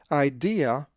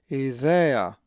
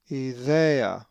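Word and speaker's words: ἰδέα: If you said idea, then you are wrong as the accent is over the epsilon and it is idea, idea with the soft dheltah.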